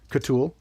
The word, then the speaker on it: CTUL: can you spell that for me can you spell that for me ctul catool okay yeah which which it's um the acronym